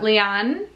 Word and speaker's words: Lian: Lian, like Leanne, but Lian.